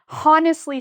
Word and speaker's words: honest: They really want to say honestly speaking, but no H. Just start with the O. Honest.